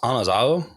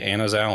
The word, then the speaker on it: Anazao: So it's technically pronounced Anazao because there isn't like an eh sound in like the Koine Greek, which is really difficult. So we pretty much all say Anazao anyway.